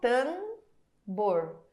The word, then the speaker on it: tambor: isso não ninguém fala eu não falo tamor não dá eu falo tambor Então essa esse M